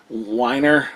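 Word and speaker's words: Weinger: you say his name it's not how it looks it's like whiner but that's how I say he's a from Full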